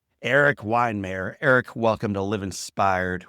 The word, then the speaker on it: Weihenmayer: You'll need it for this one as I bring on my friend, now yours, his name, Erik Weihenmayer.